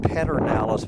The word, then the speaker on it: Pedernales: This is, it's pronounced Pedernales, but here in Texas we put the R between the E and the D.